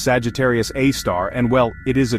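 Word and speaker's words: Sagittarius A*: It's called Sagittarius A, pronounced Sagittarius A star.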